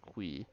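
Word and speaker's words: Qi: In the video announcing 1.7, Concerned Ape said Mr. Quee, which I still find it hard to say that, but he always said that there's no correct pronunciation for it, but it's kind of hard to argue with the way the creator of the game says it.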